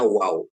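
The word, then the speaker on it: ו: Jadi pap ini dibacanya wow ya. Jadi kalau di Israel sendiri di tanah suci itu bacanya pap ya.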